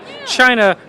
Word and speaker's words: Chynna: about the social media China being spelled with c h y n n so I realized that